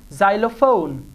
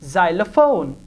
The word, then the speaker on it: xylophone: at the beginning of world X is often pronounced like English Z so this is silo phone now you will not say silo phone no this is xylophone xenophobe Xenia zing after 800 X is also